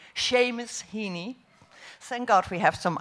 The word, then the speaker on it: Seamus Heaney: see miss heeney and i hope i pronounce his name well really do i seamus honey hini seamus heaney thank god we have